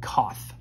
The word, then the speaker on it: coth: the names of these we pronounce this kosich siege and coth i know that might